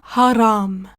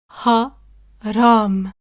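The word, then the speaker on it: حرام: et cetera et enfin Haram ha RAM Haram qui signifie interdit qui signifie pêcher donc quelque chose qui est haram c'est quelque chose qui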